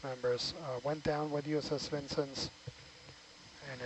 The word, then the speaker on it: Vincennes: And I looked it up, and apparently the town is pronounced Vincennes, so that we all know.